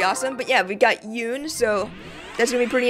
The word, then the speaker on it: Yune: Or I guess Yune. I think they retconned the pronunciation of her name is as Yun now. So I guess I'll just say Yun, even though it's first Yune.